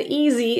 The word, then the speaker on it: easy: down to avoid eat the s in Easy is actually pronounced as a zed here so instead of e it's voiced feel the vibration on your throat as you add your voice for Z easy EAS by the Y